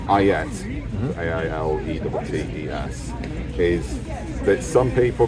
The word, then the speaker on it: ailettes: So these are, the pronunciation varies, it's Ailettes, A-I-L-E-T-T-E-S, is that some people claim it's the predecessor to things like the spalder for shoulder defence.